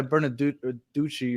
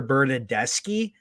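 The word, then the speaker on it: Bernardeschi: was a horrible pass by Bernaducci or Decci, whatever you pronounce it. Bernadeschi, chill. Bernadeschi, okay.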